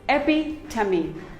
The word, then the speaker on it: epitome: none of them is correct it is simply pronounced as very epitome it is not epitome it is epi tummy epi tummy epitome we all have a friend